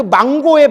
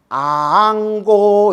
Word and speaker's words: 앙고: 근데 스님들 추근할 때 꼭 망고 이러는데 그 망고의 망이 죽은 사람 추근하는 거 아닙니까? 이래서 내가 그냥 미치고 팔짝겠다. 내가 망고가 아니라 뭐예요? 그렇죠. 앙이에요. 앙. 아앙고 이러는 거예요. 우러를 앙자. 알겠죠?